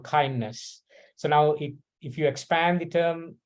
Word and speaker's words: KINDNS: So it is pronounced as KINDNS. So from here on, I will always say KINDNS, and that stands for this, this acronym.